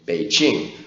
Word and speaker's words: Beijing: p p and that gives us the name be Ching which is more accurate I of course I